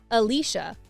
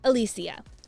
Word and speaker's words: Alicia: It's not Alicia or Alicia, it's Alicia.